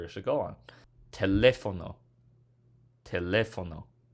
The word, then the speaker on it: teléfono: on the le, so accent mark on that syllable.